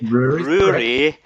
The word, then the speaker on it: Rory: Rory. And like brewery, but without the B.